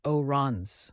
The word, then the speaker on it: orange: a vibrant orange fruit it's pronounced oons with a nasal sound next is violet representing